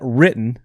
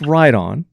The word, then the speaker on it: Riton: A lot of people pronounce that written, but it's pronounced Riton.